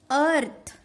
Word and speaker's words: earth: आणखीन एक रूल आहे, जेव्हा EA हा जेव्हा स्टार्टिंगला येतो, त्या स्पेलिंगच्या जेव्हा सुरुवातीला जेव्हा हा हे अक्षर जेव्हा येतात तेव्हा त्यांचा उच्चार हा अ करायचा.